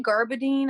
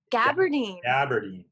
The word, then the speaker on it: gabardine: like chain stitched like i say garbadine i don't know if people say it like that gabardine because doesn't the bee come before the r yeah yeah the gabardine